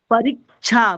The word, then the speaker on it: परीक्षा: परीक्षा परीक्षा परीक्षा न रिक्षा महोदय, न महोदय, परीक्षा। परीक्षा परीक्षा। परीक्षा छ नहीं होगा महोदय, केवल स का उच्चारण करिए ना। परीक्षा।